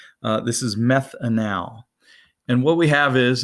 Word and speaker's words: methanal: methanol methanol please don't pronounce it the way it's spelled this is methanal and what we have is is a carbon